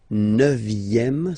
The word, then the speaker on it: neuvième: Le neuvième, neuvième, so it's V here, remember, vième, la neuvième.